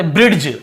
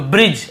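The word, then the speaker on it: bridge: हम नॉर्मली कैसे पढ़े ब्रीड्स डी ऐसे पढ़ देते हैं क्योंकि दी लिखा था ब्रेड ऐसे पढ़ देते हैं हम लेकिन क्योंकि दी को नहीं पढ़ना केवल बी जे क्योंकि जी के साथ यदि ए हो आई हो या फिर ए हो तो जी को जी नहीं पढ़ने हम जे पढ़ने हैं ज्यादातर ठीक है तो ब्रिज ऐसे पढ़ रहे हैं ब्रिज जर्नी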